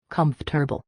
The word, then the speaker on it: comfortable: We say comfortable or even comfortable. I'm not comfortable. Hearing someone say comfor immediately signals that English isn't their first language.